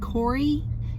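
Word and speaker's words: Kore: name for her has been core or pronounced Corey k-o-r-e and that actually means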